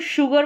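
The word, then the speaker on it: sugar: अब इसको शुगर पढ़ा जाता है, अगर हम शुगर पढ़ रहे हैं तो हम सोचेंगे कि श के लिए एस और एच लिखें, फिर यू जे आर लिखें, शुगर रहेगा। तो यहाँ पर ये है शुगर, एस यू को एस को श पढ़ा है।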